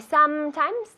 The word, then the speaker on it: sometimes: Con la M, I sometimes. I sometimes travel. Muy bien, quiero ver los labios juntos. I sometimes travel. No sometimes. Sometimes, las dos M's.